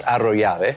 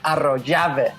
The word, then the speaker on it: Arroyave: If you want to roll the R's, Yeah. it's Arroyave. Arroyave. They're perfect. Argentina. Arroyave. Arroyave. There we go. Okay. My wife says Arroyave.